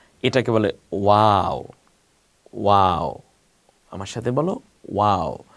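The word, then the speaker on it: و: এরপরে হলো এই যে দেখতে অনেকটা ইংলিশে নাইনের মতো না, এটাকে বলে ওয়াও। ওয়াও, আমার সাথে বলো ওয়াও। মুখটা ঠোঁট দুইটা গোল হয়ে আসবে, ওয়াও, তাহলে উচ্চারণটা সুন্দর হবে, ওয়াও।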